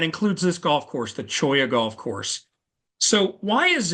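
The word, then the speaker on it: cholla: golf club so okay choya uh for starters uh back Eastern folks not even sure how to pronounce when they see it spelled c h o l l a and it's a type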